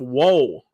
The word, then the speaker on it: Woll: And for the Toronto Maple Leafs, it is Joseph Woll.